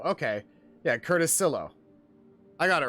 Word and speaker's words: Silo: Silo is short for silhouette. Yeah, Paladin got it right. It's pronounced Sil-Lo. Okay. Yeah, Curtis Silo.